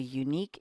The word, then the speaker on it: unique: It's true that unique begins with a vowel, a U, but we go by the first sound, not the first letter.